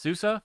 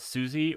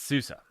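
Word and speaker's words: SUSE: first day at Susa it is pronounced Susa for all of you scrubs who call it Susie or Zeus it's Susa just so you know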